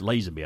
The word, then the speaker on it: Lazenby: It's Lazenby, I think, is how you pronounce his last name.